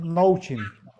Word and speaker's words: Noaching: Noaching, Noachin es, mm, pues lo pronunciamos Nouchin.